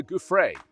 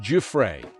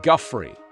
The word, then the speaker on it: Giuffre: Virginia, I think it's Giuffre. They were saying Guffrey.